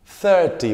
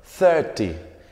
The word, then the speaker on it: thirty: el 1000 el 30 se dice a ti thirty volvemos a esa th que se pronuncia como una comuna zeta en español thirty ayyam certified yo tengo 35 años usamos el